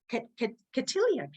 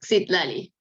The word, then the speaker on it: Citlali: Catilia. Butchering that. I know I am. That's okay. It's pronounced Citlali. Thank you, Silali.